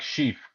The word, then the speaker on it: Scheaff: it's like Scheaff, like Yeah. chief with an S.